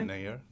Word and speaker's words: Nayyar: Yeah, Nayyar.